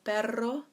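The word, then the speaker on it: perro: word baro baro now if you can roll your ass on you double roll the RNA it will actually mean dog in Spanish so Pedro is dog but Baro is but now do you remember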